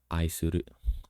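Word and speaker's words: 愛する: In this image right here, you can see there's kanjis like, let's say, this one here means love, and it's actually pronounced as aisuru, love.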